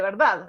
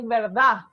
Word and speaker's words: verdad: suele pasar siempre decimos la d es una consonante interesante en español porque se pronuncia a veces tan suave tiene tan poca fuerza que a veces desaparecen o la famosa verdad eso nadie dice nadie